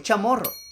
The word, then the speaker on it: chamorro: Si hablo español, digo que soy chamorro. Si hablo inglés, I'm chamoro. Y si hablo en chamorro, chamoro no hagan que te traten de corregir, porque en español el término es chamorro, ¿verdad, Rae?